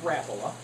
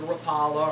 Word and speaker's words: Rapala: we'll start there uh the actual way to pronounce this if you call the company is rapola but everybody calls it a Rapala or Rapala whatever um